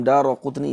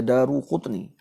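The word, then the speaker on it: الدارقطني: Ini dikuatkan dengan riwayat Al-Imam Daraqutni. Ingatlah baca Al-Imam Daraqutni, jangan baca Daruqutni.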